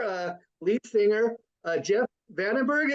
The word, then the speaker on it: Vandenbergue: lead singer uh Jeff Vandenberg am I pronouncing your name right Jeff yes you are Vandenberg that's right like Adrian no no